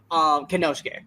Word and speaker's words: Konosuke: We got Jon Moxley against I'm just gonna say Takeshita because I always say his first name wrong. Konosuke? Is it Konosuke, right?